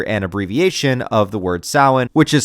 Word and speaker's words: Samhain: abbreviation of the word Samhain, which is spelled in a way that if you tried to pronounce it outright, you would sound like Dr. Loomis from Halloween 2.